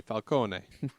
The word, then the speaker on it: Falcone: if they were still in Italy it would be Falcone um but a lot lot of lots of Italian immigrants when they came here they Dro that they dropped that uh that extra vowel sound at the end mhm so I it